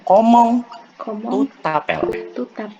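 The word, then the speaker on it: Comment tu t'appelles: Yang pastinya ada cara yang juga, yang pertama ada yang cara pertama yaitu ngomong tapel dibacanya komong tu tapel.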